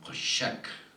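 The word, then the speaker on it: חֹשֶׁךְ: 그래서 야훼 하나님을 무시했던 바로가 어둠을 맞이하는 심판을 받게 되는데 흑암이라는 심판을 히브리 말로는 고샤크라고 라고 발음을 합니다.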